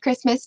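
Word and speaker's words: Kiritimati: like curatti it's pronounced Christmas because the ti makes an S sound in kabos here here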